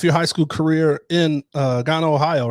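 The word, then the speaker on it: Gahanna: So now you start off your high school career in Ghana, Ohio, right? Or Ghana, is that how you say it? Ghana, Ohio.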